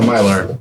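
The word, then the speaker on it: Mylar: It's a myar.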